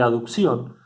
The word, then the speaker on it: aducción: Acá no está la letra E, pero para pronunciarlo diferente se pronuncia aducción y abducción. En este sentido, perdón, el movimiento de aducción es hacia adentro, aducción